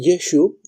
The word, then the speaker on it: Yeshu: no estaba todavía codificada cuando dice yeshu eso da un tono Galileo los galileos no decían yeshua decían yeshu porque ellos se comían todas las as finales de las palabras bastante normal en muchos